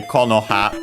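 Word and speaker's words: 木の葉: By the way, Konoha accent on the first syllable.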